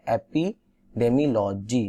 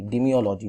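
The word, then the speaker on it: epidemiology: एपिडेमियोलॉजी, डिमियोलॉजी not, sorry for the wrong pronunciation.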